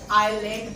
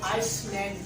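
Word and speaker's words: island: के दरमियान आता है तो इस एस को प्रोनाउंस नहीं किया जा रहा है। इसको हम कहते हैं आइलैंड पढ़ते हैं। क्या पढ़ते हैं? आइलैंड पढ़ते हैं। इसको आइसलैंड नहीं पढ़ा जाता, आइलैंड प्रोनाउंस किया जाता है।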